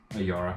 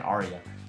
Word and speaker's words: Ayara: How do you pronounce her name? Ayara. Ayara. I always keep saying Aria.